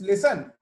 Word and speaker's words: listen: And so this listen, L-I-S-T-E-N. Now there is a letter T, which is silent here.